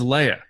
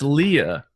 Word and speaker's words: Leia: they should know that her name is leia like for you to mispronounce a princess's name who's one of the head honchos in the house and nobody bats an eye really bothers me so